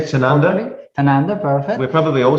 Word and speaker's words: Tanunda: Please correct me if I don't pronounce the name properly. Tanunda, perfect.